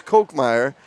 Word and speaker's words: Kochmeyer: I should have known, being a history teacher, that how that would have sounded in Germany, as it's Kochmeyer.